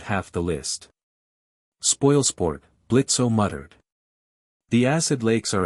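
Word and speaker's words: Blitzø: I'm Blitzo. The O is silent.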